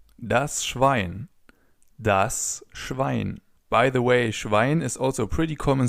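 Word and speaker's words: Schwein: By the way, schwine is also a pretty common swear word in German.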